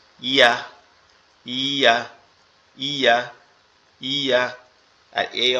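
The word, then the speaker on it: ي: ইয়াটা হচ্ছে আমাদের এই 2 দাঁতের পাটি একসাথে লেগে থাকবে, লেগে আপনার শেষ অবস্থায় এসে কি ছেড়ে দেবে, ইয়া।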